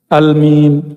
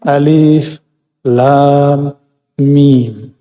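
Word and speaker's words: الم: Lam Mim Bacanya apa Al mim Tapi enggak boleh dibaca begitu dibacanya mesti Alif Lam Mim Allah lagi ingin kasih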